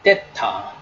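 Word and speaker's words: θ: 한다 그다음에는 타라고 합니다 데타 데타이 대타는 영어에서는 이제이 th 발음인데 그래서 우리가이 대타 모습을 보면 어떻게습니까 부강 표시에이이 사이에 이렇게 혀가 있는 식으로 데타 데타 때타 이렇게 하는데 대부분 이것을 이제 한국분들은 디귿으로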